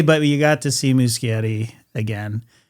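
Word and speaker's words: Muschietti: you got to see Musciatti again. Mushietti, I keep forgetting. Muscatti. You could say it like that. You could, but you'd be wrong. I think it's Mushi, but I could be wrong.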